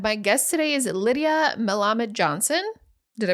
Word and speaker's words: Melamed: of the rpod my guest today is Lydia mamad Johnson did I pronounce that correctly you did which is quite